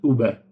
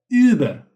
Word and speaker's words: Über: And Über Not Uber but Über Über.